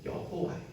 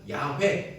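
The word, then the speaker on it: 야훼: 바로 여호와 야 예 여호와는 사실 히브리 말로 말에는 모음이 없어서 그게 어떻게 있는지 모르거든요 그걸 나중에 이제 그 이제 모음을 다 붙이게 여호와라고 부른 거고 학자들이 연구해서 보니까 실제 발음은 야회 있을 것이다 이렇게 추정합니다 아무튼 하나님의 이름은 그렇게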